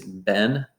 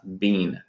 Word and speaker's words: been: the verb ing remember american pronunciation of of this is ben not being so i had been